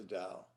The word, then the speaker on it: Tao: different kind of dao this tao is spelled t-a-o and it's pronounced dao it's actually the dao